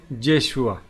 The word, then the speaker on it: Yeshu: que se transforma en Yeshua, en Jesús. Recordemos que en hebreo es Yeshua y en arameo era Yeshu, porque no pronunciaban la A, entonces queda Jesús.